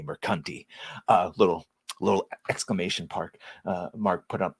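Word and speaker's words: Mercante: While I have heard it both ways, and while I would accept Alyssa, it is most certainly Mercanti.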